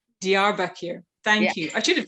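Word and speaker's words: Diyarbakır: that properly i know just to kind of like clarify it's called the arbucker it's the south eastern region in turkey dr back here thank you i should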